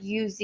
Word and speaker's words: yous: And you say it like UZ, like the chip name.